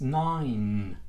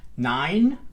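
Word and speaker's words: nine: Alright, so that's why in this case 9. Aquí sí quiero hacer una N, dejo la boca abierta. Una vez más, 9.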